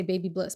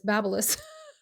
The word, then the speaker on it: Babyliss: I would say baby bliss, but it's Babyliss.